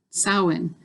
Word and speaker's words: Samhain: my god never mind but there's no m sound in the word samhain uh which is yeah